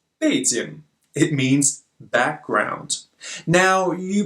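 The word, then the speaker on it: 背景: fades in means the Chinese capital Beijing but pronounced fades in it means background now you probably think that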